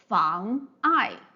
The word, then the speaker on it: 妨碍: But anyway, in order to avoid this confusion, we need to use this apostrophe to separate the 2 syllables so that we know 妨 is 1 syllable and 爱 is another syllable, right?